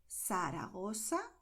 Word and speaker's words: Zaragoza: countries in Latin America, you'll hear all the time S when people use these combinations here, okay? So in Mexico, Argentina, Costa Rica, and so on, people are going to say Zaragoza, El Pozo, Pozuelo, Barcelona, Ciudad. And this is correct, okay?